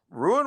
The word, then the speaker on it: Rune: yeah, Ruin was in that final, and Ruin, I guess Rune, you have to pronounce it.